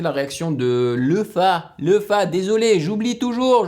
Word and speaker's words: Lefa: réaction de le phare lefa désolé j'oublie toujours je prononce toujours le nom de lefa comme les femmes lefa le fin en